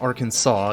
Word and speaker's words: Arkansas: pronounced but yeah Arkansas it's it's pronounced Arkansas it was named that way um after the French who actually named a Native American tribe that had lived here they were the Arkansas Indians at the time but